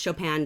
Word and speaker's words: Chopin: wrote this story so her name is pronounced Chopin just like the composer so Kate Chopin was absolutely in love